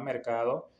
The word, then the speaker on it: MRKHADO: De hecho, ya nos aprobaron, ya está la aplicación en Google Play, se llama Mercado App, MRKHADO. Estaré dejando el logo aquí en la pantalla. Al principio es muy difícil de pronunciarlo, pero tiene su porqué.